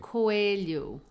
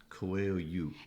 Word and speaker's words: Coelho: Coelho. Coelho. And that means rabbit, by the way. Okay, yes, I think a lot of people would not know that. Coelho.